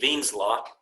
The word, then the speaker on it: Wien: So there's an equation called Wien's law, spelled with the W but pronounced with the V, Wien's law.